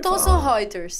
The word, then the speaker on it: Thomson Reuters: Como é que é a pronúncia adequada aqui da editora? RT, na RT. Thomson Reuters.